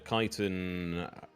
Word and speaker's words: chitin: Well, that's enough to get the one thing you asked for, which was the chitin.